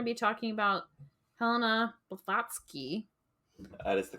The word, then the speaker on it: Blavatsky: today we're going to be talking about Helena botski that is the correct pronunciation vaty I'm getting pretty good um so